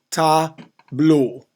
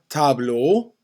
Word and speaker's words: tableau: Tableau. Un tableau. EAU will make the O sound.